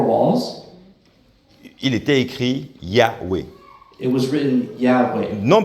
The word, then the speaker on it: Yahweh: ont eu cette révélation que la prononciation, c'est Yahweh.